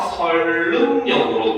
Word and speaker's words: 선릉역: 근데 이 선릉역을 발음을 하게 되면은 유음화가 일어나서 설릉역으로 발음이 됩니다.